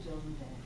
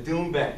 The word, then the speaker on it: doumbek: It's a doumbek. A doumbek, okay, a doumbek. That's actually the Persian name. The Persian name for this drum is doumbek.